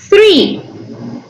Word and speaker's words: three: One, two, three. Este sonido, el TH, suena como three, three, three, three. Sus dientes superiores pasan rozando su lengua, ¿vean?